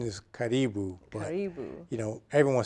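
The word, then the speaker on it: Karibu: how to say it correctly what everyone says Caribou the correct pronunciation is catty boo you know everyone says caribou and that's fine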